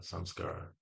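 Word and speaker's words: संस्कार: It sounds like samsara rhymes with samsara, samskara. So you put the K in there, Krishna in there, and um, it removes samsara.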